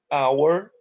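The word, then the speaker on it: hour: Agar ficou mudo e que exemplos com H é mudo olha aqui our que começa com H porém a gente não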